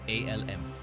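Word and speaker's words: الم: For instance, alif, lam, mim is pronounced as separate letters, alm.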